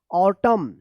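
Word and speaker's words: autumn: है आप ध्यान रखिएगा, अगर एम और एन एक साथ लिखा गया है किसी भी वर्ड में तो यहाँ पे एन जो है ना ये साइलेंट रहता है और एम का उच्चारण होता है।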